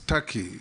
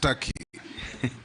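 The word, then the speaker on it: Türkiye: made by it is not called tur it's tury it's only written te but it's pronounced Taki thank you I that is the name of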